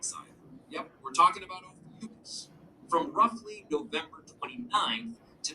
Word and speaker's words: Ophiuchus: So it's Ophiuchus is how I pronounce oh, it.